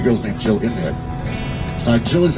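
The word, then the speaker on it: gill: 1 pint, and 3 Jills worth of liquid. It's spelled G-I-L-L, but it's pronounced with a hard, so it's like, it sounds like Jill, like a girl. Otherwise, it sounds fishy.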